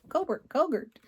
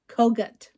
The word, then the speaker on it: Kogut: Let Love Rain by Teresa Kogert. Am I saying that right? Kogut. Teresa Kogut. Yes. I am saying it wrong that time.